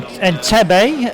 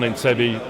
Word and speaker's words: Entebbe: Okay, right, let's have a look at the raid on Entebbe. Is that the way you pronounce it, Sean? Entebbe indeed, yes.